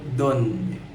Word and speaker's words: donde: Bahasa Spanyolnya donde. Ingat, tildenya ada di o. Di stresnya atau penekanannya ada di o, silabel donde.